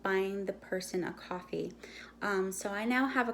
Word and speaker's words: Ko-fi: It's pronounced coffee like the drink, but they spell it Kofi, I think.